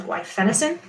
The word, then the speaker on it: guaifenesin: That's how I pronounced it. Some people pronounce it differently, but I learned it as guaifenesin.